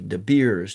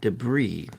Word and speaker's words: debris: I saw the word I thought it was De Beers De Beers I I pronounced as De Beers De Beers not debris and so learning how to